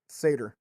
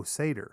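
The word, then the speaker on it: satyr: a solid brass saer how do you say that s a t yr Sader oh Sader yeah okay vintage Tech ether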